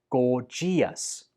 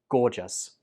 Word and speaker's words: gorgeous: on this list, and you pronounce this word like gorgeous. Gorgeous. This word only has 2 syllables. Gorgeous. Gorgeous. I hear many students pronounce this with 3 syllables, like gorgeous.